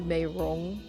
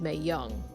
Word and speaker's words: Meirong: It's supposed to be Meirong, which is spelled M-E-I-R-O-N-G. That's technically how it's supposed to be saying, but Rong is actually pronounced differently in Shanghainese. So some people thought it was Mei Young.